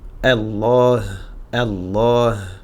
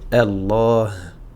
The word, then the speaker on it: Allah: Donc a a et on va le passer directement sur le lem muni d'une shaedda Allah. Allah. D'accord ? On n'oublie pas de prononcer le alif qui n'est pas visible, d'accord ?